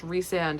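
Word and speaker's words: Rhysand: put rice on something like hey can you Ryon that that's what that sounds like and that's not even a word and then someone told me it's pronounced reand and I was like oh that makes sense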